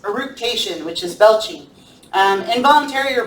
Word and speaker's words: eructation: Eructation, that's how it's pronounced. Eructation, which is belching.